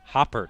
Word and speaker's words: Hopper: so far justin fy it is pronounced hopper like a frog hop so i was uh hearing what the pa announcer was saying so it is brady hopper and rick hoppert so